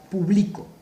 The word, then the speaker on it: publico: Y aquí dijese, o diría, publico.